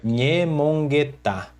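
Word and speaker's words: ñemongeta: Esse nhê, esse N com o tio em cima, ele representa a consoante NH do português, que seria nha. Aí nós pronunciamos como nha, nha, com a língua colada ao céu da boca, nha, e ela é uma consoante nasal.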